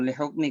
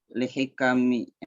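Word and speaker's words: لِحِكَمٍ: Bukan lihukmi kali bacanya. Lihikmis katsiratin. Lihikami.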